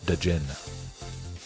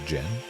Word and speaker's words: Djinn: I always like calling it Djinn. Pronouncing the J, or the D. The D is usually silent.